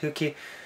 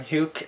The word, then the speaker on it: Huke: you pronounce it but since the japanese name i guess it's hooky rather than huke as i said at first when i read the name many years ago however this box is